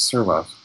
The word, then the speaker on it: Servas: But Servas is spelled Servas, and I know it as being pronounced as Servas.